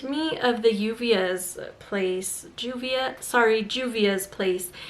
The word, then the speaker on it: Juvia's Place: of the uvs place juvia sorry juvia's place in spanish it's yuvia or like uvia is it how i would say it so that's why i